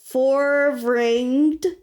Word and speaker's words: Foervraengd: The artist for these super cool biker cats is Forvranged, but we're gonna spell it for you.